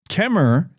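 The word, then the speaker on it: Kemmerer: like I'm telling you the folks in um Kemmer say their T they don't use three syllables for that town if you listen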